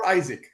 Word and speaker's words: Izik: prepared it we've got how do you pronounce your surname again Isaac Isaac and he was very amused by